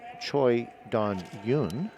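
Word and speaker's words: Choi Dongyoung: And I am told here to pronounce his name properly, it would be Choi Don Yoon.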